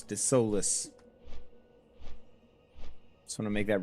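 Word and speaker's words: Desolace: Some people pronounce it desolus. Not me. No, sir. It's the soulless.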